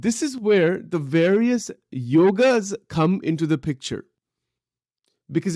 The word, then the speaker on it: yoga: actively following one predominant yoga and the word yoga we say yoga but the word is actually yog it is not yoga that's another mispronunciation it is yog but